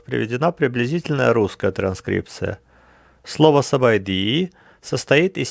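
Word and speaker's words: ສະບາຍດີ: С, А, Б, А, И, Д, И, которая пишется над буквой Д. Сабайди.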